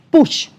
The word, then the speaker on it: Puig: Pius, lo pronunciaste perfecto porque todo el mundo se equivoca, así que tranquilo. El margen de error. En realidad, el apellido catalán, es push.